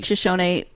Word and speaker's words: Shoshone: But thank you for pronouncing Shoshone mostly correctly. Shoshone, and not Shoshone, which I worked for a guy who was working with the tribe, and he kept calling them the Shoshone, and I was like, fail.